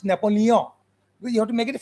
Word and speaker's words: Napoleon: word right because in in France the rule is that you should never pronounce the final consonant it should always nasalize it's not napoleon we say napoleon but it's napoleon you have to make